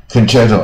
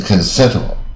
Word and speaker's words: concerto: 个又来了，C 应该是 concerto 啊，或 concerto，它是 concerto，协奏曲啊，啊，这种发音都很不规则的。